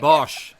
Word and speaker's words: Bosch: BOSCH. There you go. That's how to pronounce it.